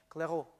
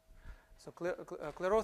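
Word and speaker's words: Clairaut: general result which is called Claro or a guess to pronounce is the French the French accent it will be Claro Claro theorem which says that under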